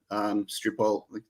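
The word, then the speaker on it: Sripol: don't know if you watch any of Peter Stripol, that's how you say his name.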